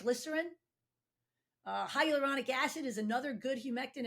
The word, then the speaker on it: hyaluronic: exactly what it how do you say it hydraulic hyaluronic acid is a sugar molecule type that is